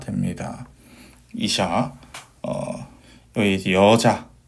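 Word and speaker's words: אִשָּׁה: 이음절 같은 경우에는 sh 발음에 카메치 그 다음에 해 같은 경우는 발음이 없죠. 그래서 샤가 돼서 이샤가 됩니다. 이샤 여기 이제 여자 뭐 이런 뜻입니다.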